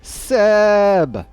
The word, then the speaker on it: CEEEEEEEEEEEEBBB: get to see clouded Minds face off against Seb which is the proper way to pronounce that for all those curious I will